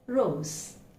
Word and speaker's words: rose: It's not rose, but it is rose. Rose. Okay, so we have a different O, which we'll learn soon, and the S is not S, but it is Z.